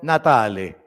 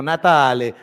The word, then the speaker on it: Natale: En portugués se dice Natal, en italiano Natale. Pues pronuncien conmigo, espero que tengan el italiano listo. Natale, repitan conmigo, Natale. Eso, estamos en Italia, Natale.